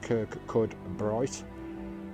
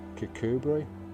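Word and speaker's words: Kirkcudbright: here which is pretty cool guys we're in kikubri guys cucubri it looks like it says Kirk cud bright but it's pronounced kikubri I've got a camp down the road it's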